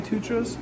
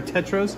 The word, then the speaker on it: tetras: Oh no, more toucan tutras? Yep, or tetras?